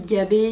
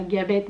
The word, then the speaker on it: Gabé: se prononce Payette, mais mon nom de famille Gabé, il se prononce Gabé et pas Gabette, donc...